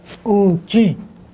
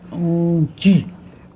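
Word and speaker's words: uŋčí: Let's use Oonji. Oonji. Grandma. It's a nasal in.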